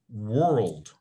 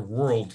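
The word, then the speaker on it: whorled: are arranged like this are called world so these are world leaves and that's spelled with a w w-h-o-r-l-e-d so here are my world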